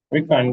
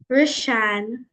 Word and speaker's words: Rishan: Rickon, go ahead. And I know that's not your name. You don't pronounce like that. How you pronounce it? Rishan.